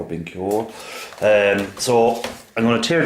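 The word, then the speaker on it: BenQ: I have a Sony, I have a Sanyo, and Binco, I think it's pronounced B-E-N-Q, Binq or Binco.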